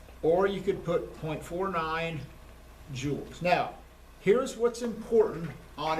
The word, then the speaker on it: joules: Newton meters, otherwise known as, rhymes with ools, Joules.